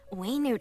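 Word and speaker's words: Wenut: 3.6 is the Academia Extravaganza variety of celebrations way nude activity has suddenly been on the rise and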